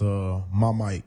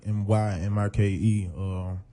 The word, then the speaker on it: Mymike: I know some people may say my name a little wrong, but it's Mymike, Mymike.